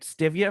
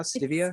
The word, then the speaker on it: stevia: It's STIVIA now, stevia. Stevia. Whatever. It's the hippie shit. You put the emphasis on the wrong syllable, Scott.